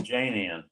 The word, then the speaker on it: Agajanian: a gentleman that's JC, and how do you pronounce his last name? Agajanian.